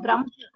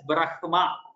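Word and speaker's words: ब्रह्म: Only when this Ha comes along with either Ma or Na, then the Ha is pronounced in full and the Ma or Na are pronounced in half.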